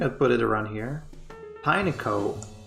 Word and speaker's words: Pineco: Pineco. They really just said Pinecone, just take one syllable out, Pineco.